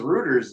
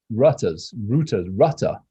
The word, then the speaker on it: Rutter: Rooters or Rudders? I don't bloody know. Are you Britishing this right now and pronouncing it wrong? Because Rooters is something else. Rutter, R-U-T-T-E-R, Rutter Associates.